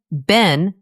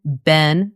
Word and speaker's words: been: Remember, Ben is one quick syllable. One sound, Ben. In the United States, it usually sounds like the word pin. Pin, Ben. In the United Kingdom, it often sounds like the word bean. Bean, Ben, but in both places, it is always just one syllable, quick and short.